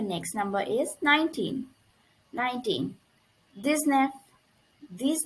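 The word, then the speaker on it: dix-neuf: or number of next number is 19 19 this knife this name this okay it is also like 17 and 18 10 plus nine it is this neff this knife this plus enough this now this enough okay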